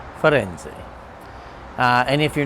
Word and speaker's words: Firenze: It doesn't seem that difficult, but to hear people say friends, or Firenze, or Firenze, or Firenze, it's Firenze. Firenze.